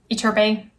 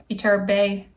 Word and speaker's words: Iturbe: etterbae it's herbert itherbee antonio terbei iturbe iturbe iturbe i think so i think that's how you pronounce it um but this